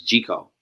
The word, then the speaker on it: Gic0e: my name down and people kept mispronouncing it and I was like it's G call and so they were